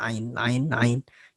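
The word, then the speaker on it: عين: Orang Arab tuh biasanya ain. Ya kalau ngomong ain, nah gitu. Jadi dari dalam, lebih dalam.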